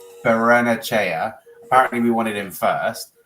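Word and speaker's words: Barrenechea: originally wanted, hold on, someone spelled it out phonetically in the comments. I saw that. PJJ, yes. Berenachea.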